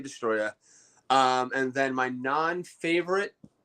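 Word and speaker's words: Destoroyah: i'll just say it i know the o is in there you gotta pronounce the other oh but i just say destroyer um and then my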